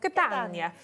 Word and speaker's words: Catania: Which one have we got? Catania. Catania. Oh, you see, if you do it with the accent, it helps, doesn't it? Catania, which is a very picture frame, very antique, vintage picture frame.